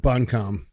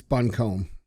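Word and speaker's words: Buncombe: counties um buncom voted it's not buncom that's buncome why they why they spell it like that that's comb you just don't have to read it right buncome bur that's correct I'd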